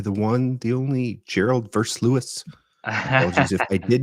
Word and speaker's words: Versluis: You don't have the ow sound, Versluis.